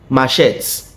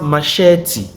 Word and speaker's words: machete: I have this machet. No, it's pronounced machete.